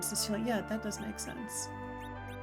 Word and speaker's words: Cecil: When his name is spoken in that version, they pronounce the first syllable of his name with a short E, so Cecil, as opposed to Cecil. I mean, I think that is the common pronunciation.